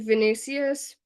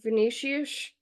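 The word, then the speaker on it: Vinícius: okay so v v I would say it like venicius but I believe it's more like venicius venicius uh junior sorry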